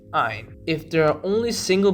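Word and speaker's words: -yne: So a double bond is written as ene, en, pronounced een, and a triple bond is written as ein, yn, pronounced ein.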